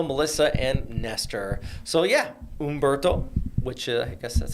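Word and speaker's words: Humberto: Ombberto. Am I saying it right? I was trying to look up the pronunciation this morning from the NHC. I believe we do not pronounce the H.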